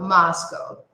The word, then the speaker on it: Moscow: Mas em inglês, nós vamos falar diferente aqui no início. Aqui está a sílaba mais forte. Então, não é a segunda. Então, Moscow.